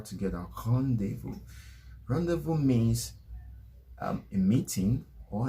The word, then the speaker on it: rendezvous: in french khan deifu rendezvous rendezvous you actually pronounce the r with the back of your tongue pronouncing it the g and the r together khan devo rendezvous means um a meeting